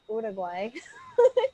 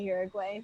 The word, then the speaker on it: Uruguay: Yeah, Uruguay, but it's like Ura, like with an, like say it like with O's instead of a U or something, Uruguay.